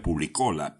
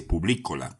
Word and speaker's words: Publicola: Yo decía Publicola, pero en realidad se dice Publicola con un acento en la letra I, y eso proviene del latín servicio al público.